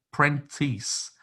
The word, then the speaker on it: Prentice: apples and pears it's i believe it's pronounced pentru prentice p-r-n-t-i-s-e of course it embarrassing